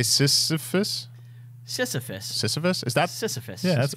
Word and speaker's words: Sisyphean: Is that Sisyphean.